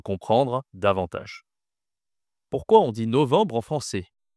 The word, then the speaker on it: novembre: C'est pas novembre, c'est novembre. Novembre. Bon, novembre. Attention, ici à la nasale enbre.